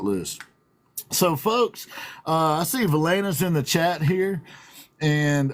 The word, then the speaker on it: Valaina: So it isn't always just there's Valaina. I keep saying it wrong. Valaina.